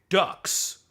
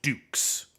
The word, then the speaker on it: Dux: It's pronounced dukes like like it's a French name.